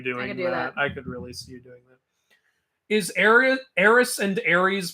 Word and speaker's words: Ares: I didn't realize how much the E is pronounced in Greek mythology. Ares, Persephone, Demeter, Aphrodite.